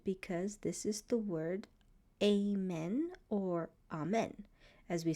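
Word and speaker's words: אָמֵן: this is the word amen or amen, as we say in English. So let's take a look at how it's pronounced. So we start with the consonant Aleph. It's silent.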